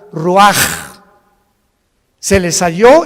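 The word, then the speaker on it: רוח: capítulo y exhaló Isaac el Roach así como suena se pronuncia la ciah en hebreo como J Roach se les halló y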